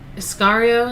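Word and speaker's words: Iscariot: of the disciples judas um iscario is how you say it agrees to betray jesus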